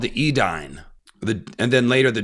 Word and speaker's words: Edain: they were called the edine the and then later the dunad but it's spelled it looks like dunadan or Edan it's a i n even though it's said dunad and edine but let's just say